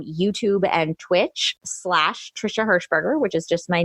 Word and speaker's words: Hershberger: and twitch slash trisha hershberger which is just my name and it's the last name is spelled just phonetically as it sounds it's all E's and and yeah it's